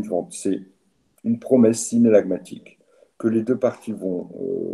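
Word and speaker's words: synallagmatique: Alors ça s'écrit S-Y-N-A-2-L-A-G-A-M-A-T-I-Q-E. Regardez dans votre cours, je répète, synalagmatique.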